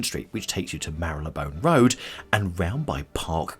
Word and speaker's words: Marylebone: the best bits from Mara bone now if you look at Mara bone you're looking at it and go Mary Lee bone which a lot of way there a lot of way that people pronounce it but it's not welcome to Mara bone and enjoy so we're going